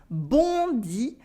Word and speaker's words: bondit: Bondi, bondi, a on sound and the silent T.